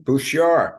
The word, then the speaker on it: Bouchard: Wayne Bouchard. We don't pronounce the second D, the D in the name.